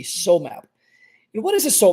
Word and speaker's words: SOMAp: so map and the so map is spelled s o m a all caps and then lowercase p so map and what is a